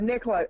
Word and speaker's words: Nicola: remember that your name do you pronounce it Nicola yeah Nicola my dad's name is